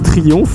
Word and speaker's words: Triumph: Faut que je prononce Triumph correctement, c'est Triomphe. Voilà, mais en Alsace moi j'ai dit Triumph.